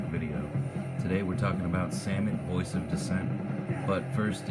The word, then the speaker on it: Samut: favorite accurate commanders and I do pronounce it salmon I don't think a set mood sounds right so anyway salmon is